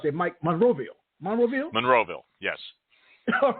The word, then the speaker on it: Monroeville: How do you pronounce that, Mike? Monroeville? Monroeville, yes.